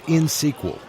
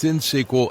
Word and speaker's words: INXSQL: Harry, it's InSQL, INXSQL. You don't pronounce the X.